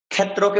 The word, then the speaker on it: ক্ষেত্র: উচ্চারণ করতে হয় এক্ষেত্রে আমরা ক্ষেত্রকে উচ্চারণ করতে পারি ক্ষেত্রা অর্থাৎ ক এর উচ্চারণটা ভিতরে লুপ্ত থাকবে ক্ষেত্রা কষেত্রা কষমকে যদি